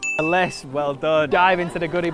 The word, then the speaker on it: ellesse: unless unless unless unless that's it and it's LS well dive into the goodie box thanks